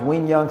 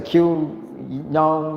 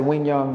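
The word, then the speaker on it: Quy Nhơn: City Vietnam that's q-u-y-n-h-o-n that is pronounced win young some people say Q young but I say Wing young that's what they tell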